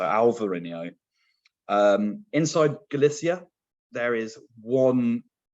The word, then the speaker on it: Alvarinho: So the B is replaced with a V. So Alvarinho.